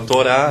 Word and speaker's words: Torá: não é a gente não fala tora fala Torá a gente não fala